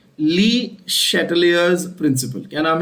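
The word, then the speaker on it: Le Chatelier: The pronunciation is important, please don't mess up the name very badly, ठीक है। ली चार्टलिया principal, चार्टले principal, ऐसा कुछ नहीं बोलने का है, ठीक है।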